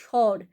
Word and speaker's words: স্বর: বয় শূন্য র স্বর কিন্তু আমরা যখন উচ্চারণ করছি আমরা কিন্তু বছি না আমরা কি বলছি স্বর তখন কিন্তু আবার দন্তস উচ্চারণ করছি না আমরা স্বর মানে তালব্য স উচ্চারণ করছি আবার দেখো স্বাভাবিক স্বাভাবিক